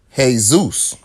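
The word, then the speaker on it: Jesús: That is spelled Jesus, but their name is Jesus because J is pronounced with a H.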